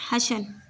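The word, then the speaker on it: hustle: The school usually began with a great हशल, इसे पढ़ते हैं हशल, इसमें टी साइलेंट रहता है।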